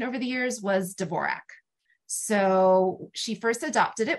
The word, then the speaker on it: Dvorak: and a chorus girl which indicates Dvorak was how she was pronouncing it um when she gets signed by Howard Hughes in 1931. um she signs her contract D apostrophe v-o-r-i-k so I think that could maybe go either way you know War Jack or Dvorak um and then more